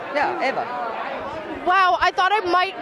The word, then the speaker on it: Eva: Yeah, Eva. Wow, I thought I might be able to trick you because a lot of people think it's Eva because it's spelled EVA, but you actually even know the pronunciation.